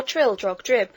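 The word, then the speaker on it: Trildrogdrib: It contained a warrant for conducting me and my retinue to Traldrag Dub, or Trildrog Drib, for it is pronounced both ways as near as I can remember, by a party of 10 horse.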